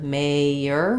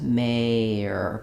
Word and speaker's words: mayor: So you can hear when I say mare and mayor, they sound very similar, but this one should be a little bit more distinctive, mayor, with that y sound connecting in this.